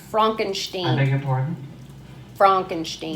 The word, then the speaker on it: Frankenstein: That's Frankenstein. Frankenstein. I beg your pardon? Frankenstein. My name, it's pronounced Frankenstein. And not because of my accidental relationship to a famous Cuckoo.